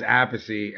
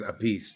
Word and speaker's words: Appice: Vinny says Appice and Carmine says Appice. And they're brothers. And they argue how to say their last name.